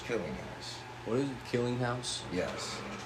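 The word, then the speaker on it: Kellinghaus: name is Josh killing house what is it killing house yes how do you spell that k e l l i n g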